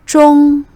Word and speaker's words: 中: tien second tone zhong jong as in jungkook means china in chinese last one ho ho